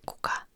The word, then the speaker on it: kuka: Like we have differences, like kuka in Finnish is who, and kukka is flower. Kuka and kukka.